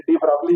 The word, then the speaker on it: de Broglie: तो डी ब्रॉय मत बोले, डी ब्रॉगली बोल दे, ये ब्रोकली तो नहीं है, ठीक है।